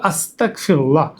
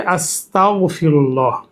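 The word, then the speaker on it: أستغفر الله: ভুল উচ্চারণ হলো আস্তাগফিরুল্লাহ।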